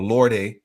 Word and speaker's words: Lorde: have Ichigo and it's vaste Lord form or Lorde form as many pronounce it and then we have